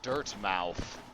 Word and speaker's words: Dirtmouth: little caterpillar like that I'm pronouncing Dermott like Yarmouth well I assumed that was uh that was the idea make it sound like a like a real town name as either that or dirt mouth and that just sounds